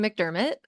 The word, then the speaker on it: MacDermott: yeah absolutely yes so really close on the pronunciation it's McDermot okay got it I yes I am a